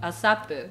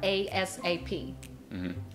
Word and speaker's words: ASAP: this asap right so the english pronunciation of asapu i think which is mostly used in the business settings are asap as soon as possible as soon as possible but in english you would say asap asap is like shorthand